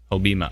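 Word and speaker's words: Hobbema: Hobima.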